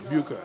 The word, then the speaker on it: Bucher: Booker is B-U-C-H-E-R, Booker.